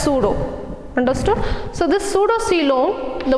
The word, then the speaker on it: pseudo: The coelom, or this word pseudo, wherever you come across with the word, see here the P is silent, it is pronounced as pseudo.